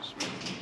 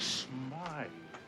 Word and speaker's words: Smythe: If I knew that, I would have shot at Mr. Smith. Smythe.